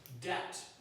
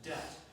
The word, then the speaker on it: debt: Debt. Again, the B is silent. Debt.